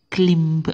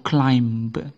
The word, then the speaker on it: climb: l i m b Itu sekilas membacanya mungkin klimb atau Climb gitu ya kalau yang belum belajar silent letter mungkin ini akan dibaca Climb tapi ternyata membacanya bukan Climb tapi clim jadi b-nya tidak ikut dibaca Ini huruf b ini pada kata Climb itu tidak dibaca namanya silent letter-nya adalah silent letter B clim tanpa ada huruf b-nya clim itu kemudian kata ini kata